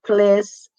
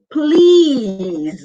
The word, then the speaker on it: please: Okay, guys, it's not please. It's please with a long E. You smile and you do that. It's please, not please.